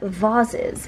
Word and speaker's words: vases: have a collection of vases or vaz's if you're super cool and if you pronounce it that way like westin does his mom is from northern ireland and i think that's why he pronounced this that way because we were both